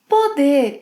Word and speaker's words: poder: Finally, poder. Poder is equivalent to be able to, can. Poder in the infinitive has a closed O sound, poder, but when conjugated in the present tense, it opens.